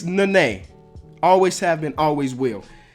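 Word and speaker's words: Nenê: It's Nene. Always have been, always will. Giannis Antetokounmpo. Listen, I've heard this name pronounced 1,000 different ways in this past couple years.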